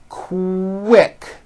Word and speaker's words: quick: So, for example, the word quick is pronounced with a K and a strong W sound.